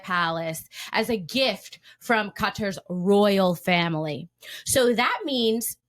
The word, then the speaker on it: Qatar: But now he is being pimped to Qatar. For those of you who don't know, that's the correct way to pronounce Qatar.